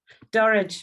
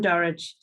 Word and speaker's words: Dorridge: Yes, Dorridge. I'm from Dorridge. Little village called Dorridge, rhymes with porridge.